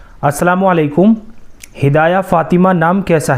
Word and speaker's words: ہدایہ: हिदाया।